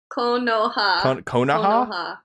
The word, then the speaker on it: Konoha: Konoha.